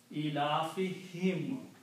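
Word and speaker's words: إِيلَافِهِمْ: Also when you recite in the tajweed, this dhamma is recited as kasra for easy pronunciation. So it's pronounced as him, not whom. Ilafihim.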